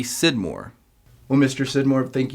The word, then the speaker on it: Scidmore: s mor e often pronounced skidmore but Sid Moore is my name I've lived in Trinidad